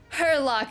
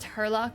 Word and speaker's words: Herlock: the policeman grinning like a Cheshire Cat that Hurlock shs it's actually just oh maybe I was pronouncing his pronunciation wrong it's it's actually just herlock schms he's English arlock is that how he's